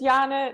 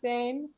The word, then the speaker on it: Jana: everybody gets it wrong so it's jana not jane um and um this